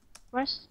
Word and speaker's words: brush: Âm A ngắn chúng ta đọc giống á đấy, á. Chúng ta rất hay nhầm sang âm ơ. Chúng ta đọc là brush.